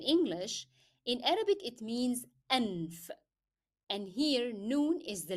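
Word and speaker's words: أنف: So apostrophe is signifying hamza, then a is signifying fatha that appears above hamza, then noon for n, for f, anf.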